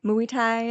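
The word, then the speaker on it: Muay Thai: Uh, is it pronounced mui thai? Mu Thai.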